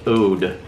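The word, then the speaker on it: oud: It is Henry Bendel Velvet Ode. O-U-D, Ode, I think is how you say that.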